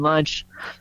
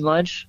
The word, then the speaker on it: Lunche: on Instagram at lunch that's lunch with an e and pronounced just like lunchtime oh yeah and you're